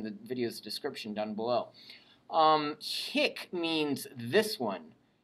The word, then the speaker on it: hic: So one has a short I and the other has a long I. So make sure your ear keeps those two straight.